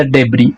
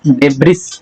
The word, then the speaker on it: debris: यहाँ पर इसकी एक्चुअल प्रोनाउंसिएशन दी है DEBRIS, डेब्रिस लिखते हैं बट उसे डेबरी पढ़ते हैं। क्या पढ़ते हैं? डेबरी।